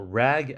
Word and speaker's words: RAG: We're building a small rag app. Yep. Seed like the cloth rag.